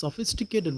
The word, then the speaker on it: sophisticated: உலகம் அப்படி என்ன அப்ப ph வந்து பார்த்தீங்கன்னா fக்குரிய சவுண்ட் அது சாஃப்டா தான் உச்சரிக்கும் சோபிஸ்டிகேட்டட் வேர்ல்ட் அதாவது பி வந்து அழித்து உச்சரிக்கும் தனி பி உதாரணமா பி என் பென் முதல்ல நாங்க அழித்து உச்சரிக்க வேண்டும் பிச் வந்து எப் என்ற சவுண்ட் அதான் சோபிஸ்டிகேட்டட் வேர்ல்ட் அவள்